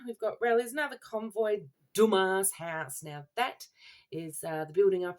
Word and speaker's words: Dumas: being home again we've got Rally's another Convoy Dumas house now that is uh the building up